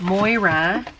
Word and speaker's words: Moira: containing a bunch of Moira I think that's how you say it m-o-i-r-a Ora cosmetics try